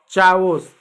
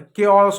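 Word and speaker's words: chaos: चावोस गलत है। केओस होता है।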